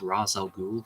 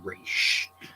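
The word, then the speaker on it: Ra's al Ghul: Raz my name is Raz al Ghul for Arabic Arabic for the Demon's head the Arabic pronouncement is the first one the first syllable is Raz counts are pronounced it's used Hebrew pronunciation race I mean both sound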